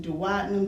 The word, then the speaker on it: duodenum: That's called the duodenum. Some people pronounce it duodenum, duodenum, duodenum. Either way, it's okay.